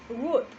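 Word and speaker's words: would: el verbo modal condicional qué es word la pronunciación no incluye la l el verbo book se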